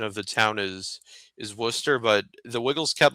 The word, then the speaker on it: Worcester: was in a town called the the actual pronunciation of the town is is Worcester but the Wiggles kept like struggling to pronounce it like it was like Worchester.